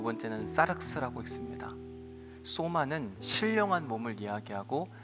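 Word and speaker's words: σάρξ: 첫 번째는 소마라고 읽고 두 번째는 사르스라고 읽습니다. 소마는 신령한 몸을 이야기하고 사륵스는 타락한 육체를 가르쳐요.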